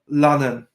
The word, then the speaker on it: Lannan: It's pronounced Lannan. Lannan. In Scottish, it means darling.